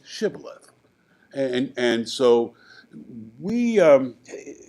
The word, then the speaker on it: shibboleth: you're not politically correct because you said sibyllith and you should have said shibboleth and and so we